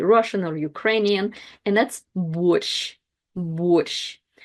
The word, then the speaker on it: борщ: or Ukrainian, and that's борщ. Борщ. And the last letter and sound of this word is the sh.